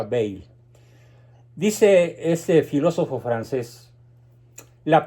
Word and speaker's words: Bayle: Se escribe Bayle con Y, pero se pronuncia Bayle.